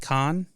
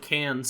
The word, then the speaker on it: Cannes: Wait, Con? Mm-hmm. Is it Cannes? Cannes. Cannes? Yeah. Con. That's how it's pronounced?